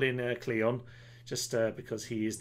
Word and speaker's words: Cleon: a yes cleo all for that was terribly pronounced uh this is called in uh cleon just uh because he is the enemy cleon